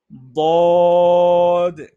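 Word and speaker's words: ضاد: আমরা যখন দদ উচ্চারণ করি তখন অনেকে দালের মতো করে উচ্চারণ করি, দাল যেখান থেকে সূচনা হয় সেখান থেকে সরাসরি বলে ফেলি দদ দদ, এটা হবে না।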